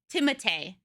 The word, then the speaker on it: Timothée: I guess everyone's talking about Timothy Chalamet. There's an actor named Benedict Cumberbatch, and then there's Timothy Chalamet, but he's French, so it's pronounced very different than Timothy.